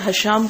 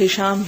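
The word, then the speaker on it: هشام: حدیث 42 میں ہشام لفظ آیا، جبکہ ہمارے اکثر حشام کا تلفظ پایا جاتا ہے. کیا یہ غلط العام ہے؟ جی ہاں، حشام غلط العام ہے، اصل اس کا تلفظ ہشام ہی ہے اور اس کا معنی ہے سخاوت.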